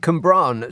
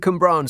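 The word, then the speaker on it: Cwmbran: oh 973 Owen and cumbran says the current in Brackets it's got pronounced k-u-h-m-b-r-a-a-n yeah I know Owen and cumbran says the current narrative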